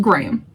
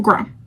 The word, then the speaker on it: Graham: Okay, in the UK, Graham de Vanilli is pronounced Graham, not Graham.